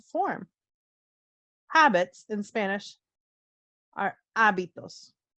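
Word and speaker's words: hábitos: habits in spanish are abitos remember the h is silent in spanish abitos so these are getting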